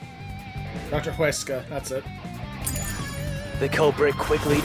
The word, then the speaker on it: Huesca: I can never not pronounce that name anymore. Huska. Dr. Huesca, that's it.